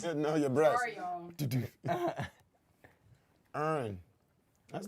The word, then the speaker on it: Erin: It's Erin. You Erin. don't pronounce the ER. She said her name means like there's. Erin. Her name sounds like there's air in here. Yes, Erin.